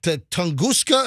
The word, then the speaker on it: Tunguska: and it wasn't that uh what was that tunguska event or whatever what was that uh hey look that up look up the tunguska event I don't even know how to spell t-u-n-g-u-s-k-a was that it tunguska 1908 explosion in Russia